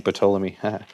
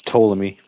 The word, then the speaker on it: Ptolemy: I keep saying Ptolemy. It's Ptolemy. The P is silent.